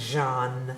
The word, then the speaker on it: Jean: sister taught French, and she said it's pronounced Jean.